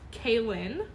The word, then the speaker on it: Kaylin: Pronounced Kaylin. Did I say it right?